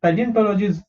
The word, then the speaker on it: paleontology: PA is pe, L is le, ON is on, TO is to, and law G. Paleontology.